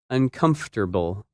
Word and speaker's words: uncomfortable: problems for English learners that word is uncomfortable and it's opposite comfortable when you say this word you do not pronounce some of the letters that you see in the written word in this lesson you